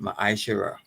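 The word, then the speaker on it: ma'aser: And it means tenth in the Hebrew and is pronounced ma'asherah.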